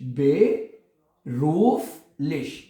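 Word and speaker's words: beruflich: roof leash ठीक है मैंने आपको कई दफा बताया है कि जर्मन जुबान को जितना तोड़ के प्रोनाउंस करेंगे उतना अच्छा प्रोनाउंस होगा क्यों क्योंकि जर्मन जुबान में एक-एक अल्फाबेट प्रोनाउंस होता है बे रूफिश बेरूफलिश ठीक है तो ये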